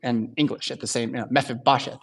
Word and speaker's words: Mephibosheth: And Jonathan has one son who lives through the collapse of Saul's kingdom, and his name is tough to pronounce. It's Mephibosheth. Mephibosheth.